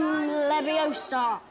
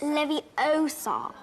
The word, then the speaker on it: Leviosa: Guardian Leviosa. Stop. Stop. Stop. You're going to take someone's eye out. Besides, you're saying it wrong. It's Leviosa, not Leviosa.